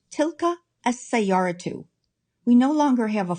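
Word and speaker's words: تلك السيارةُ: It only takes one vowel marker and is pronounced tilka as-sayyaratu.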